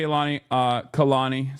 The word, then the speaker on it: Kehlani: Anyway, but yeah, shouts out to Kehlani. Sorry, that's how you say her name. I apologize. I was saying it wrong.